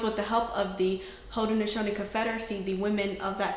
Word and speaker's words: Haudenosaunee: So there was how do you pronounce it, the tribe of the nation? It's the Haudenosaunee Confederacy, which is in New York.